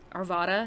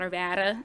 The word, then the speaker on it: Arvada: there you know oh you're going to say arvada not urbana you know just little